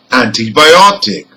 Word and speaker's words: antibiotic: The primary stress is on ot. That's second from the end because it ends in IC. The secondary stress is again on the prefix, and this time the prefix is an.